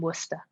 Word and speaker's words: Worcester: Yes, Worcester. That's how you say it. As in Worcestershire sauce.